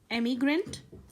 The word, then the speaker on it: emigrant: second one is immigrant please listen to the pronunciation carefully this is emigrant this is immigrant now let's see what